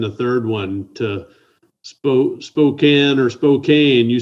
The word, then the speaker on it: Spokane: so is it spokane or spokane spokane is what i know that's kind of what i thought that's what i've always referred to it as but if you look at it it looks like it's spelled spokane so i have another question